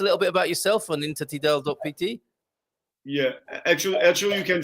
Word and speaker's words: intertidal: They always say interdital, like something forbidden, interdito. So it's easier, even for a Portuguese person, it's easier to spell intertidal.pt.